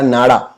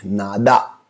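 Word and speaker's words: nada: आपके मन में आएगा नाड़ा। नहीं, नाड़ा नहीं है, नादा।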